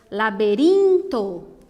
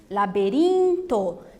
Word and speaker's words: laberinto: Veja que elas são as penúltimas sílabas mais fortes e por isso elas estão destacadas, tá? Então, ó, despacito, despacito, paredes, essa é igual no português, né, ó, paredes, laberinto, também é como no